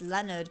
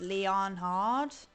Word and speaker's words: Leonhard: I was trying to say that as Leonard, but it's Leonhard.